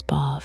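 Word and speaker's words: Badb: Bodyb pronounced roughly as Bob in the old Irish is the most immediately terrifying of the three.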